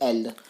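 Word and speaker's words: elles: देखो एस की प्रोनाउंसिएशन नहीं होगी, बोलेंगे इल और एल, लेकिन इनको प्रोनाउंस नहीं करेंगे।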